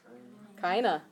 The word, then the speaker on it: keine: the I together so you pronounce the second one fine and then the e at the end keine okay aqaba keine last